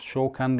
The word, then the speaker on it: Shokan: Throughout the center artwork, we do have these, I think it's Shokan, it's pronounced Shokan logos, going all the way through the unit.